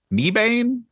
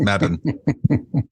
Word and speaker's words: Mebane: to pronounce something yeah me Bane no it's Madden there used to be